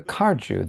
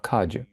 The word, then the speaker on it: Kagyu: Also today, with the Kajupa, the Drupal Kaju, sometimes called the Karju. They spell it with a ra, with an R. So they call it Karju instead of Kaju. But but it's more common to say Kaju.